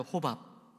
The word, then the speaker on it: 호밥: 한번 따라해 봅니다. 호밥. 발음을 잘해야 돼요. 호밥. 그래서 호밥입니다. 밥.